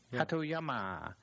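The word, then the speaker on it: Hatoyama: in a book saying that the way I pronounced the name. Yeah, that was good. Hatyama.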